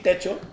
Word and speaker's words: Techo: So Hobonichi Techo.